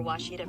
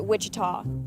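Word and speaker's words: Ouachita: people say ohita oh a Oita is it pronounced Oita searching for wasita Baptist University back in Texas everybody pronounces it Witchita but really it's was was was how would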